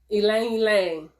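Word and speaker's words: ylang-ylang: Ylang ylang. Ylang ylang. Let me let you see it, because it don't look like ylang ylang, but it is. It's the way it's spelled is what I mean.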